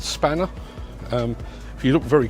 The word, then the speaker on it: Spanner: As you can see, it's spelled X P A N E R X Spanner, but it's pronounced Spanner.